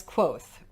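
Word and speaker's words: Kvothe: My name is Quoth, pronounced nearly the same as Quoth. Quothe.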